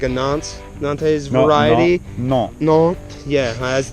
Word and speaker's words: Nantes: They I picked one of the shortest almost like a Nantes variety. No. Nantes, yeah, as the British say, Nantes.